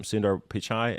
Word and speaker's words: Sundar Pichai: Sundar Pichai is how you say it.